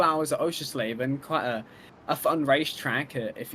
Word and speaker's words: Oschersleben: How do you say it? Oschersleben. It's German. Oschersleben. Oschersleben.